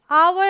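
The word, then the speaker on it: hour: ठीक है, तो ये है ऑनेस्ट, ये है आवर, ये है ऑनर और ये है एयर।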